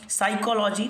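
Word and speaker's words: psychology: इसमें क्या हो जाएगा साइकोलॉजी तो यहां पे पी साइलेंट है भाई साइकोलॉजी यहां पे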